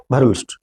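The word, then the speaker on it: Verhulst: Pronunciation आप अपने तरीके से करोगे, पायरे फ्रांकोइस भरहल्ट, भरूल, भरूल ऐसे बोलते हैं, BERHULST, भरूल्स्ट।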